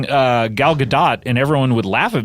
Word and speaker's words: Gadot: Is it Gadot? It's Gadot, yeah. And anytime I would say it, people would go, ha, thinking I was making a joke, and I'm like, no, that's how it's pronounced.